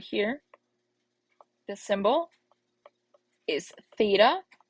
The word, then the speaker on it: theta: If you recall that, that this guy right here, this symbol, is theta, right? That's how we pronounce it.